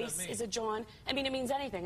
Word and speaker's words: jawn: Is a John. I mean, it means anything. It's a noun. So literally everything is a John. Wow. A John? A John, yeah. Spell it. J-W-N, John.